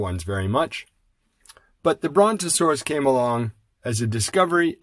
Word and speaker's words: Brontosaurus: Brontosaurus. Now, there's a big name. Brontosaurus. That's 4 beats. Technically speaking, that's 4 syllables.